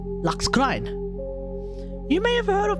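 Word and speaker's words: Lacus Clyne: I am using the Japanese pronunciation too, by the way. Because I refuse to call her Lacus Klein. No, it's not happening. Lux Klein. Lux Klein, yes.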